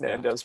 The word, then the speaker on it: Nando's: you say it nando's honda's nando's non-dos it's nando's but it's all right nando's um i was